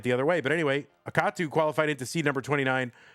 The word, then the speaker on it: Akatu: On the right side of your screen it's Akatu. I always say akatu, but uh I'm sure it's a katu cuz the middle syllable is capitalized.